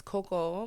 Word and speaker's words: Cocoa: So my name is Coco, but it's spelled Cocoa.